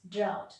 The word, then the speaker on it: drought: of lot which is drought so a gh is silent drought drought is opposite of